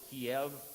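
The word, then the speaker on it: Kyiv: Why don't we pronounce it Kiev? Why is it Kiev? Kiev is the way the Russians pronounce it.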